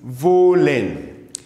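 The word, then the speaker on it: wollen: fourth one which is volen volen okay to one to so isv isv say it after me isv do V remember this W is not I mean it's pronounced like a V so that's why you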